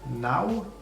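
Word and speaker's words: naŭ: Donc unu, du, tri, gvar, gwin, ses, sep, ok, nau. Donc le U avec un accent, il se prononce comme un W.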